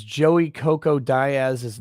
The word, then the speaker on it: Diaz: You say Diaz, I say Diaz.